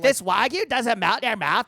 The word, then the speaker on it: wagyu: I kind of Like this wagyu doesn't melt in your mouth, but it's still fucking thick.